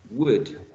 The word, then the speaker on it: would: presentation remember that the that this grapheme this grapheme is not pronounced this ill is not